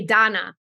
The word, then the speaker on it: Dana: name is pronounced uh is written Dana but it's actually Donna and I don't know